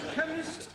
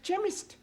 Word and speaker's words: chemist: blame me k e chemist does not begin with a k it sounds like it begins with k CH but that is making it chemist no the CH is